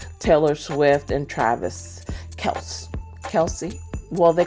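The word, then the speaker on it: Kelce: homage to uh Taylor Swift and Travis Kel Kelsey well they call him Kelsey now I heard somewhere that his the actual pronun pronunciation of his last name is kelse it's not Kelsey people just added the e but anyway kelse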